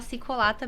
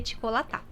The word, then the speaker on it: Çikolata: pessoal entender, até porque começa com C cedilha, e C cedilha com som de T. E aí a gente aderiu a falar Cicolata mesmo para facilitar. Mas a pronúncia correta da língua seria Ticolatá.